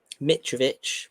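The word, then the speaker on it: Mitrović: United um and he does reckon that um mitovich is that how you pronounce his name yep that is MIT he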